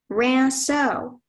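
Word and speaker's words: rinceau: Your word is Ranso.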